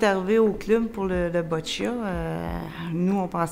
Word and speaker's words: boccia: C'est quoi ça, boccia? Comment qu'on le prononce déjà?